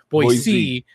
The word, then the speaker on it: Boise: Is it Boise? Boise. Boise is the right way to say it. Boise. Oh, Boise. I see. Yeah. So if you put a Z in there, people will like, you know, get their pitchforks and everything.